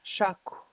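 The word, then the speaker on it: shákw: Shaku. Good job. You have a um W at the end, so it's a rounded K.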